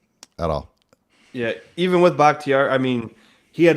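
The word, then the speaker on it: Bakhtiari: they have um I always say this guy's name wrong uh David bucktier bhaktiari yeah I hope I said it right that's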